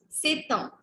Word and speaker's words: c'est un: It's say, then T and U is pronounced together. So it becomes c'est un. C'est un.